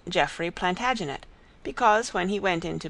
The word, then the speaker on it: Plantagenet: covered with his visor the Latin name for broom is planta janista and gradually it came to be pronounced plantagenet although Jeffrey was French he